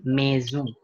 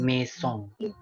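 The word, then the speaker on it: maison: gitu ya bener minsung bukan mizong tapi mezum jadi esnya bukan dibaca sdh teman-teman tapi dia jadi z nation bukan mesong eh lu tuh nanti pelajaran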